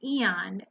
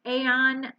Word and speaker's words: Aeon: is on this deck the eon a on however you want to pronounce it it is card number